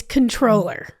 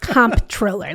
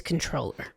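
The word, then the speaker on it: comptroller: It's controller. So it is it's silent. So it is silent.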